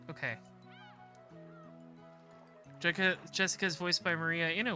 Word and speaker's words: Jessica: kind of weird name anyway is pronounced jessica she's dad's older brother's